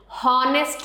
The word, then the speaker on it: honest: Honest नहीं बोलते, ह नहीं बोलना, इसमें H is silent.